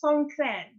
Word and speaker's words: Songkran: So it's Songkran.